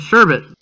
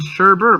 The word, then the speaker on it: sherbet: one that taught me the correct pronunciation of a sure bet turbit sherbet I still I'm still struggling man beautiful I always just raised st. sherbert my mom said it